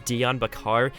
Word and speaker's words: Dion Bakar: the longer voice messages i mispronounced it earlier it's dion bakar and it seems like